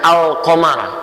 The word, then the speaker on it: al-qamar: Alif lam qamariyah, ada huruf-huruf alif lam yang menyatu dengan huruf tertentu, kalimat tertentu yang dibacanya seperti membaca al-qamar.